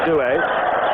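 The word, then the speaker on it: Duhe: He does want it pronounced Dewey, so we will go along with his wishes.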